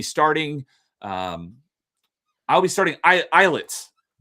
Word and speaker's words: Islets: U, but I will be starting um, I'll be starting eyelets. uh spelled Isllets, but it's pronounced Islets.